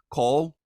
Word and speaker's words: Coll: the author is Steve Cole like doll that's the proper pronunciation of his last name a two-time Pitzer prize